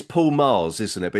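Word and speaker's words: Magrs: It's Paul Mars, isn't it? But it's Mars. Yes. But it's spelled Maggas, isn't it?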